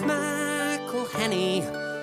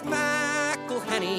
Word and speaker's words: McElhenney: It's McElhenney. McElhenney. What ways to massacre and mispronounce it, there are many. McElhenney. It's McElhenney. McElhenney. McElhenney. McElhenney. If there was doubt, now there won't be any.